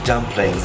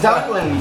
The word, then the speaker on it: dumplins: It's not chicken and dumplings. It's chicken in dumplings. Dumpling. Not Dublin. No, it's Dumplins.